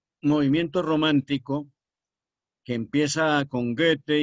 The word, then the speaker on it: Goethe: Goethe. Goethe. Que se pronuncia, si quieren pronunciarla en genuino alemán, pues la OE suena entre O y E. Es un sonido ambiguo que nosotros no tenemos.